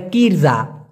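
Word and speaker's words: kerja: হবে কাজকে বলা হয় কারজা কাজকে মালয়েশিয়ান ভাষায় বলা হয় অনেকে উচ্চারণ করে কিরজা কিরজা এটা ভাই ভুল ভুল উচ্চারণ হবে কারজা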